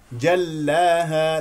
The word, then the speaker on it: جلاها: لانها مكسوره والنهار اذا جلاها لا تمسك اللام لانها مشدده تقول جلاها هذا خطا جلاها لا تقول جلاها لا تستميل ل الالف واضح واضح واضح جلاها